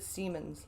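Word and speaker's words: Siemens: difficult to work with some people pronounce it Seamans oh being drained from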